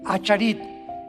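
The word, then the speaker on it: אחרית: Postreros es arit, así como suena con ch. Se pronuncia ait, aharit.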